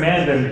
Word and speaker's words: Mandan: No, you pronounced Mandan correct.